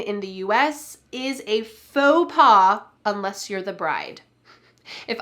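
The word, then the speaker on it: faux pas: PA we don't say folks pass Instead This is a French word and we're going to say it in the French style slightly English style as well we're going to say faux paw FAA take a look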